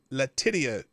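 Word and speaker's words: Letitia: day of the trial New York attorney general latia James that's I'll credit ranty monkey with that uh pronunciation and um uh latius James lawsuit and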